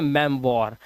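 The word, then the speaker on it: memoir: मेमोयर नहीं इसे पढ़ते हैं मेम वॉर। ये ओ आई जो होता है ये वा बन जाता है।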